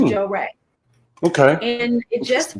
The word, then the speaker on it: Jorae: it may spell it a little but it's pronounced Joe Ray okay okay and it just so happens that